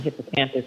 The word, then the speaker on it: hippocampus: caller who mentioned the hippocampus but that's very interesting anyway hius how do you wait how do you say it how do you say it hippo hippo campus oh okay fine okay not Campo well I'm gonna I'm